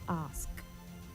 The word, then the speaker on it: ask: When you pronounce ASK, don't say ax, all right? It is ask.